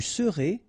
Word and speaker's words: serez: Je serai, tu seras, final S not pronounced, il sera, elle sera, nous serons, final S not pronounced, vous serez, EZ at the end, et serez, ils seront, final T not pronounced, elles seront.